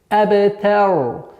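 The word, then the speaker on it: الْأَبْتَرُ: Аб. Вот здесь калькала у нас. Аб. Аб. Аб. Та. Аб. Та. Та мягкий звук. А в конце дамма аннулируется, переходит сукун, и ра становится твердой. Абтар. Абтар. А не абтар.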